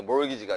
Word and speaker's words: mortgage: T가 묵음이에요. T가. 알겠죠? 모르트 가게 그러지 말고, 알겠어요, 여러분? 그래서 이게 몰기지가 되는 겁니다.